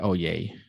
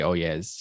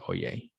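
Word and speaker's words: Oyez: a website called oye even though it's spelled o y e z uh the z is silent oh yay uh i was uh i like to say oh yes even though that's not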